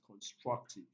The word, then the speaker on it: constructive: syllable as well so the correct answer is option a which has the primary stress on the second syllable which is constructive so we have come